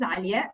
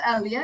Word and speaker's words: Alia: Yeah, okay, so and my name is Alia. This is how we pronounce it in Arabic, so it's Alia in English.